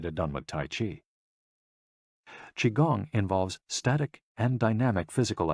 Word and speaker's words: Qigong: Qigong, also known as Qi Kung.